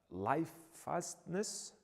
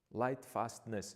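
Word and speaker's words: lightfastness: have a uh uh life fastness that's how you say it properly light fastness yes light fastness and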